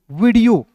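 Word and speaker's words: video: उसके बाद देखिए वी आई से होता है दोस्तों वी, डी ई ओ पढ़ेंगे डीओ, क्या हो जाएगा? डीओ, वीडियो।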